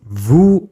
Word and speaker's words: vous: By the way, vous is pronounced vous with a silent S at the end.